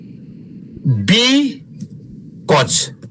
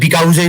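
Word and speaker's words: because: कोल्याप्सड collapse collapse ब कज यसको उच्चारण बिकज हो। यु को उच्चारण छैन बिकज मात्रै भन्ने हो। बिकज जस्तो सुनिन्छ धेरै विद्यार्थीको मैले यसो याद गरे्या छु। त्यो धेरै विद्यार्थीले ब कसैले त बिकाउजै पनि भन्छ। आउ नै भन्दिन्छ ए यु देखेर तर यसको उच्चारण चाहिँ बिकज हो यु छ भनेर नमान्नु स्पेलिङमा मात्रै छ त्यो। यो साइलेन्ट हो यु बिकज कज हो त्यो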